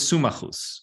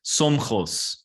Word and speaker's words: Somchos: And his name was Sumachus, or here it says, actually, the pronunciation is Somchos, this word here, Somchos, which doesn't sound Hebrew to me.